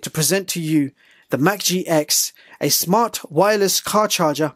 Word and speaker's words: MAGQI: have not seen before Macke well it's actually pronounced as Mack G they have sent me